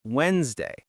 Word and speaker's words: Wednesday: We don't say the nez. It's Wednesday.